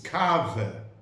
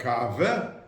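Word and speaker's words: קאַווע: And that every time he took a coffee, because the Yiddish word for coffee is kave. When we say today, somebody, efsher vilter a kave, maybe you want to have a coffee.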